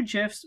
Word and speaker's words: GIF: two GIFs, and yes, they are pronounced GIFs, I did search it up, these two GIFs that represent sort of the motion that we've been looking at with these phasors.